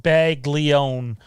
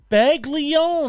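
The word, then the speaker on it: Baglione: b by the way my last name is pronounced bag leone beg leone of course uh is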